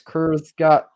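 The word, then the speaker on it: Kurzgesagt: Kurzgat. Kurzgat. Yes. Yes. Yes. Kurzgat.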